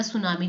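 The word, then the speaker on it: tsunami: What is सुनामी? देखो T silent होता है, सुनामी जापानीज वर्ड है।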